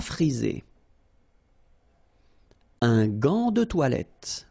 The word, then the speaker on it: gant: Un gant de toilette. Remember, G-A goes like ga. Okay, g. But in that case, you've got this an, so it's nasal, gant, and then final T is not pronounced here.